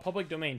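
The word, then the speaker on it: Pvblic Domain: It's spelled like PVBLIC, Public Domain, but it's called Public Domain.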